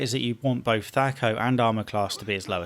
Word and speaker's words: THAC0: Let's start with THAC0, which perhaps more accurately would be pronounced THAC0.